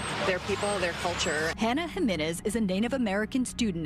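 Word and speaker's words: Jiménez: It's pronounced Jimenez.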